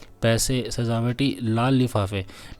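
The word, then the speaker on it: 蹴鞠: कुजू का उच्चारण सूजू होता है जिसका सबसे अच्छा अनुवाद किक बॉल है।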